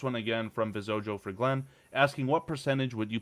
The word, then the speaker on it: Glyn: I don't hear the distinction as much. It's just like Glenn with Glenn.